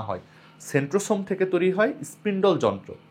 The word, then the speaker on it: centrosome: এখানে দেখো সেন্ট্রোজোম লিখা আছে। আমি সোম উচ্চারণ করছি। কোন উচ্চারণটা সঠিক? দুটাই সঠিক। তুমি সেন্ট্রোজোমও বলতে পারো। সেন্ট্রোসমও বলতে পারো।